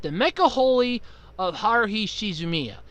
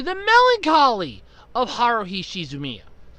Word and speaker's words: The Melancholy of Haruhi Suzumiya: oh god okay so apparently I have been mispronouncing this animes title for years I've been calling it the mecha holy of Haruhi Suzumiya and it's apparently The Melancholy of Haruhi Suzumiya so first off I would